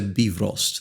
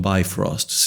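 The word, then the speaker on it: Bifröst: And the bridge between worlds is "bee-vrost", not "bye-frost". Yes, Marvel lied to you.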